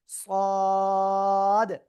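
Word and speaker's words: ص: জিহ্বার আগা, সামনের নিচে দুই দাঁতের পেট ও আগার সাথে লাগিয়ে একটু মোটা আওয়াজে আমরা উচ্চারণ করেছিলাম চার আলিফটা নিয়ে, সদ, তাই না?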